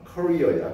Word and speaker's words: career: 얘들아, 캐리어라고 좀 발음하지 마. career야. 캐리어는 끌고 다니는 거야.